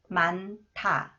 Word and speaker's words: 많다: next one the cons comes thees with 타 만타 사람들이 너무 많다 사람들이 너무 많다 사람들이 너무